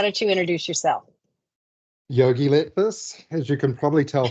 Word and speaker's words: Letfus: Oh, let me say your name wrong first. Let's Letfus. Let's make a fuss.